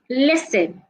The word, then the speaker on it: listen: silent letters we have listen the T in this word is silent so make sure that you're saying the T sound you're not saying the